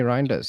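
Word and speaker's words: Reijnders: I mean a lot of people are saying you know um Rindes am I pronouncing that right? Yes. Tani Rinders.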